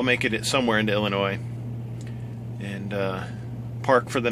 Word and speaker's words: Illinois: should get into Illinois Illinois I always put an S in the end I know it's silent but uh that's how you spell it so that's the way I say it and since I love